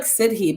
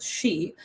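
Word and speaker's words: sidhe: the fairy folk the it looks like siddhi but it's pronounced she the she and the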